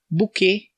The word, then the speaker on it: bouquet: Bouquet. É engraçado como o T no final, que nem no petit, do petit gâteau, o bouquet também tem o T no final e a gente não pronuncia também, né?